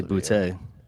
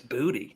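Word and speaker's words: Boutte: You just wanted to say Boute. That's not even how you say it. It's Booty.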